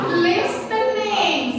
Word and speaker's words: listening: Listening. Semuanya listening. Sukanya listening. What is the correct word, everyone? Very good. Very good. The T is silent. Not listening.